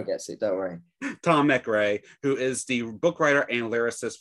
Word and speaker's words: MacRae: have the fabulous tom mcrae that's how you pronounce it correct tommy gray very close not matt gray mcrae nick craig tom mcrae especially the probably well it's english one of